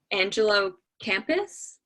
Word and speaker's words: Angelo Campus: Angelo Campus? Yep, just like Oh, a school.